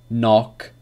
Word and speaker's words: knock: So K is not pronounced when it comes before an N at the beginning of a word. Examples. Knife, knee, no, knock, knowledge.